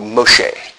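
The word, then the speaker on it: משה: The name Moses, or as it's pronounced in Hebrew, Moshe, is an interesting word.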